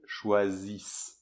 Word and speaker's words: choisissent: Et après, on a deux S, et ça, du coup, ça crée un S sourd. Donc ça passe de l'abeille, [Z], à [S], plus fermé, là, au niveau de la bouche. Donc ça fait, choisissent.